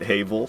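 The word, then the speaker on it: Havel: that long ago and they they pronounced it haval I was like hey I'm not the only one but I've changed my ways I say havl now even though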